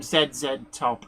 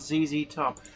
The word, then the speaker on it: ZZ Top: She used to call them Zed Top and it was like, "No, I I'm sorry. I know how to pronounce Zed properly, but the group is called ZZ Top."